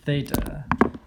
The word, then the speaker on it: theta: angle theta so it's a greek letter that's pronounced theta t h e t a okay and if